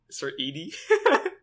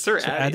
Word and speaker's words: Sir Addy: Why say his name like that? Sir Edie? Sir Edie? It's Sir Addy. I say Sir Addy.